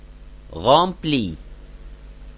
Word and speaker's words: rempli: Rempli, rempli. Et lorsqu'on met E pour le féminin, alors ne change pas la prononciation du mot.